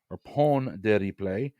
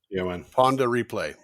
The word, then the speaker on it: Pon de Replay: I do that again yeah I think I'm mispronouncing these Rihanna's 2005 debut single Pon de Replay upon their replay spelled upon p-o-n Ponder replay okay replay is Beijing b-a-j-a-n Creole for what